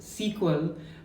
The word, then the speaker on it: SQL: previously said SQL I know it is actually pronounced sequel but that's how my lecture in foundation pronounced